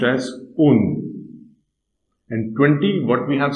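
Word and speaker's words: und: And is pronounced as un.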